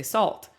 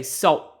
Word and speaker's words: salt: salt americans would say salt some brits say salt s-a-w-e salt they don't put the l or the t they just say salt and that doesn't translate